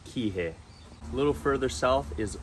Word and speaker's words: Kihei: rentals nice beaches are all located and it's pronounced Kihei a little further south is the town of